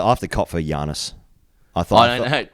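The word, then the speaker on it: Giannis: It's pronounced Yiannis.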